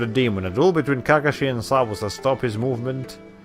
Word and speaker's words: Kakashi: Well, okay, they pronounce it Kakashi. I'm pretty sure it's probably Kakashi in Japanese, but I'll just try to stick with the English pronunciation just to not cause any confusion.